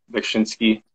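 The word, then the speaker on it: Beksiński: It's Bekshinsky.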